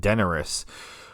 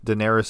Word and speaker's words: Daenerys: And I've been saying Deneris. Uh I'm going to keep saying Deneris even if Daenerys is actually the correct way to say it just cuz I I just it sounds like Daenerys Targaryen.